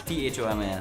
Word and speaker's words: Thomas: On Facebook, he's John Thomas, THOMAS. Yes. Thomas. Yeah. The H is silent for some strange reason.